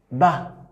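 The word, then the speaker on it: ب: Donne-moi un mot seulement qui donne le son Ba.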